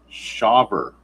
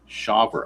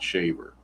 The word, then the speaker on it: Shawver: I guess it's pronounced Shawver, not Shaver, because without the W, you would think it would be Shaver, but with that W there, I'm thinking it's Shawver. I'm assuming that's how you pronounce that name.